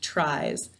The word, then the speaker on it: tries: This, though, is silent. We don't hear this at all when we say the word tries.